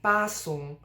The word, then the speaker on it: 巴松: I'm not saying 巴松, like, de-stressing the second syllable. It's flat throughout, 巴松.